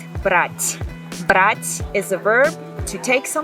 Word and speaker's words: брать: For instance, брат, брать. Брать is a verb to take something. Брат is brother. So it's very important to learn how to pronounce that because the meaning of the word can change.